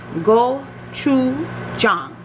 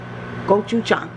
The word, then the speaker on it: Gochujang: so this is the Korean inspired it is pronounced go CH Jong goou Chong don't worry about how I know I know